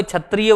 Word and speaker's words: क्षत्रिय: ठीक है, हाँ, वो क्षत्रिय, तुम आज छत्री नहीं बोलेंगे, छत्री बोलो और क्षत्रिय बोलो। हाँ, तो वहां पे छा का उच्चारण और क्लियर है।